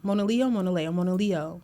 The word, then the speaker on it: Mona Leo: I feel like I said her name wrong last time, but Mona Leo. Mona Leo.